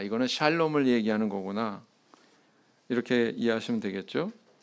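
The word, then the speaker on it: שָׁלוֹם: 단어는 헬라어로 보면 에이레네 이렇게 이야기하고 또 히브리어로는 샬롬 이렇게 발음을 합니다 귀에 익숙하시죠 네 개혁 한글판 성경에서는이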